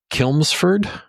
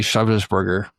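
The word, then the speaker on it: Chelmsford: So, if you go northeast up the M11 towards Kilmsford, that's where it is. And one of our UK listeners is yelling at the m machine right now for me mispronouncing the name cuz it's actually Shersburgger.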